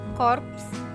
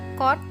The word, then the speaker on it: korps: juga aspek Tata bunyi contoh pelafalan yang benar adalah Kompleks korps transmigrasi ekspor bukan Kompleks chord transmigrasi dan export Hai terima kasih untuk